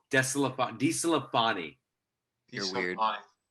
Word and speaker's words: DeSclafani: Anthony DeScalfini. No, DeSclafani.